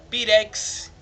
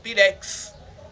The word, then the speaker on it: pirex: que esse city x ele não vai ter som de x pirex vai ter um som de cs pirex certo temos também a